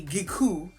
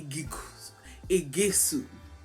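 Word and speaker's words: Iguaçu: that right okay because i was pronouncing it a gekku but it really is a gesu okay again told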